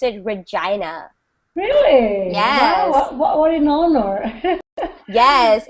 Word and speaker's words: Regina: it's written exactly as your name and we pronounce it Regina really what in honor yes it's and it's